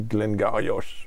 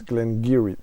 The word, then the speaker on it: Glen Garioch: French say Glen Garioch, but it's Glen Garioch, the pronunciation.